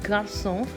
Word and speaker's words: garçon: love their song so when you pronounce the see in the word garçon you go to pronounce it as s so that's it friends